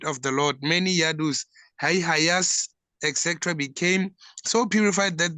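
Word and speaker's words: Haihaya: Yadu dynasty haya ada and others like King Hihaya bra is it hihaya or am I saying it wrong pronounce pronouncing it wrong yes it's right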